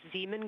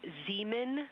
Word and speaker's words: Zeeman: Integrity Science, we believe that's Zeeman Crater. Oh, I floated away from the speaker. Say it again, please. We believe that that is Zeeman crater.